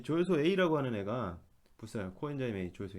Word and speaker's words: CoA: 코라고 읽으면 안 되는데 저는 저 코아라고 읽고 싶네요. 왜냐면은 요 옛날에 가수 중에 보아라고 있었는데 보아 이렇게 썼거든요. 가운데 오만 이제 여러분들 보아 좀 아시죠? 그래도 음, 여기 이렇게 썼는데 그래서 이거 보면은 할 때 볼 때마다 코아라고 읽고 싶네요. 자, 그렇지만 요거는 코아가 아니라 요 정식 명칭은 코엔자임 A.